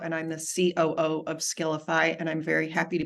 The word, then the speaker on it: Skiilify: But you still pronounce it as Skiilify, right?